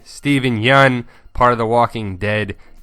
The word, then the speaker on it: Yeun: Some facts about Steven Yeun. And yes, that's how you pronounce his last name, Yeun. Not Yoon, but Yeun.